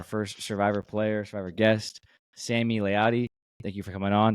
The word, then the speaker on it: Sami Layadi: As being a huge Survivor fan, we have our first Survivor player, Survivor guest, Sami Layadi. Thank you for coming on. Did I pronounce the name right?